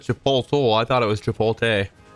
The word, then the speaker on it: Chipotle: It's pronounced Chipotle.